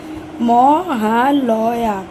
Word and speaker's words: মহালয়া: মহালয়া বলতে উচ্চারণ করতে পারছে না। মহালয়া এরকম ভাবে বলো।